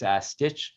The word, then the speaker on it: Stich: If you misspell it like everyone does and put a second T in it, it will redirect. But it's Stich. I often say it's Stitch, not Stitch. So meaning it's STICH, not STITCH.